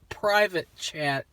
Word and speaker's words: Pvt Chat: of sound kind of kind of sounds like pervert chat but no it's private chat i guess chat